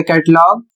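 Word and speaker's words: catalogue: अगला शब्द है सी ए टी ए एल ओ जी यू ई। इसे पढ़ा जाएगा कैटलॉग।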